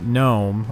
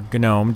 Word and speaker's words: GNOME: ahead and work with Gnome, or Gnome, depending on how you want to pronounce it, instead of developing in-house the Unity interface.